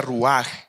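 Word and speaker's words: רוח: Y cuando habla de el Espíritu de Dios, me llama mucho la atención la palabra espíritu, que originalmente en hebreo se pronuncia ruaj.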